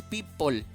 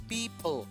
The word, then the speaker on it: people: Quiero que notes que no es people, ¿ok? No es con la O tan fuerte, es people, people, people, gente, people.